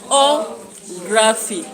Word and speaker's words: geography: And you can see O is being emphasized because we said that when we have words which have an additional part, then you have to stress the third syllable from the end.